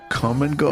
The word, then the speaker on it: Kum & Go: Uh, come and go. Yes. Which I think is a uh like a chain of stores. It's like a gas convenience store, like a quick trip or Right. But come is spelled K U M.